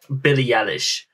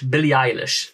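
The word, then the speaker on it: Billie Eilish: a very long time we would return to Billy Ellis Billy Ellis Billy eilish that I think that's how it's pronounced now the uh the first video that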